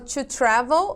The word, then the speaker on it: travel: Eu falo to travel, tá? Então, o meu CVC não é a sílaba mais forte. Então, ó, para a colocação de ED, eu não repito a minha última letra, ok?